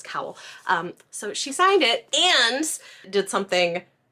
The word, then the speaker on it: Kowal: This is The Spare Man by Mary Robinette Kowal, which I realized I've been saying her last name wrong. It's Cowell, or Cowell? Cowell. I was saying Kowal, it's Cowell.